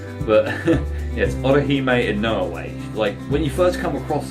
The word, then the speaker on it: Orihime Inoue: Orihime Inoue. I think I'm pronouncing that properly. That's how they pronounce it in the English dub. But yes, Orihime Inoue.